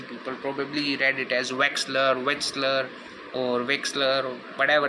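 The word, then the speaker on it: Wechsler: kept forgetting it and started pronouncing it as Western I mean it is westler Wexler yeah it's West come on man seriously okay I'm gonna pronounce it as Wexler you can check the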